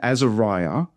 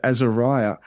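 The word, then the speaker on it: Azariah: And there the A at the start of Azeriah. It's pronounced on its own. It's again got a silent Hebrew letter, but the A is a single syllable for our sakes.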